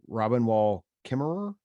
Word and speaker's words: Robin Wall Kimmerer: Is it Robin Wall Kimmerer? That's correct. Yeah, that's how you pronounce it.